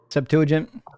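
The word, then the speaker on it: Septuagint: Uh Septuagent.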